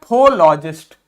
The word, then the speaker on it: psephologist: देखिए PSE, PS जब भी आता है तो कभी भी इस P को प्रोनाउंस नहीं करते हैं। जब भी P और S साथ में आते हैं तो हम P को नहीं बोलते हैं।